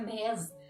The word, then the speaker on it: Mads: Apesar de se pronunciar Mads na língua dinamarquesa, os estadunidenses pronunciam Mads.